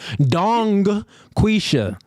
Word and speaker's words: Dungquesha: me to pronounce that dong quisha yes do my but if you say it fast the G disappears Don quisha okay uh